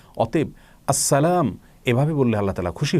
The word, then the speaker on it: আসসালাম: আল্লাহ রাব্বুল আলামিনের গুণবাচক একটি নাম, সেটাকে শুদ্ধ উচ্চারণ করলে নিশ্চয়ই আল্লাহ তাআলা খুশি হবেন। কারণ নামকে বিকৃত করে যদি কেউ উচ্চারণ করেন তিনি কখনো সন্তুষ্ট হবেন না। অতএব আসসালাম এভাবে বললে আল্লাহ তাআলা খুশি হবেন।